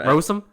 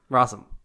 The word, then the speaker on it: Rossum: Or Rossum? Rossum. No, It looks like Rossum. Like Ross, R-O-S-S.